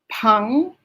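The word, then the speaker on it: 朋: miss gina that is p p-e-n-g pung that's not you yes that's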